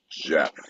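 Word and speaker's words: Geoff: the British uh uh spell it g e o f f and somehow it's pronounced Jeff somehow John I'm even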